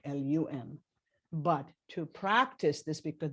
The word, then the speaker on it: Lam: But it's the A always represents a sound so Lam, so kind of like LUM.